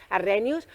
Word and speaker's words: Arrhenius: edita a Ingela Arrhenius, que me corrigieron como lo decía, no lo pronunciaba bien, Arrhenius.